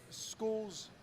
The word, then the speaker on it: Scull: Do we know school's because they're saying it's it's pronounced school, not skull, right?